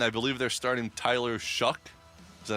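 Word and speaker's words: Shough: And I believe they're starting Tyler Shuck. Is that how you pronounce Shucks?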